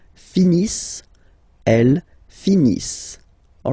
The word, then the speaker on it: finissent: Ils finissent. So remember, as usual, when we get the verbs, E-N-T, not pronounced. Ils finissent, elles finissent.